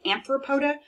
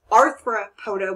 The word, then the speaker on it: arthropoda: in class with students they mispronounce this and say anthropoda well that would mean man foot and they don't have band feet it's arthropoda which means jointed feet or jointed legs in